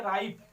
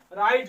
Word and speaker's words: write: है, ठीक है, तो R के पहले W आएगा तो W का उच्चारण नहीं किया जाएगा, इसे हम पढ़ेंगे राइट, क्या पढ़ेंगे, राइट लिखा है।